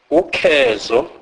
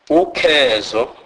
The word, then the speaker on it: ukhezo: It is pronounced rather like the C in English word comb, e.g. ukhezo, ukhezo.